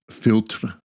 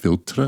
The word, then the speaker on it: Philtre: that uh I wore filter by hm green I think it's pronounced filter with the that French accent I should have maybe